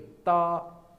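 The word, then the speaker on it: 的: अब ये है डी और ई, ता इसकी प्रोनाउंसिएशन ऐसे ता, ये इसके ऊपर कोई टोन नहीं है, ठीक है।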